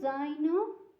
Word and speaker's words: zaino: Now, so this is the first case, because it has a sound, a letter that when you pronounce it makes dz. So it's two sounds.